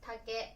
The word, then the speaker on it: 竹: 竹です。